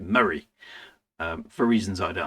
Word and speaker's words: Moray: I've got to pronounce that right because I was pronouncing it Moray because that sounds kind of cool. But that's not how anybody up here pronounces it. They pronounce it Murray.